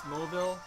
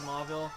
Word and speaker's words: Mauville: I believe the color is pronounced Mauve, so maybe it's Mauville, but I've always said Mauville.